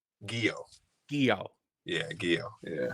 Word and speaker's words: Giyoh: Giyoh. Giyoh. Yeah, Giyoh. Yeah. Giyoh, like a karate gi. Everybody always used to say Yu-Gi-Oh when I was in high school.